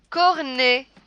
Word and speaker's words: cornet: Cornet, cornet. Ici, le ET se prononce et seulement quand il est à la fin du mot.